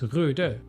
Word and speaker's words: RØDE: They have that O with that, which, you know, I'm not Scandinavian. Don't call me Scandinavian. But as far as I know, that should be pronounced RØDE.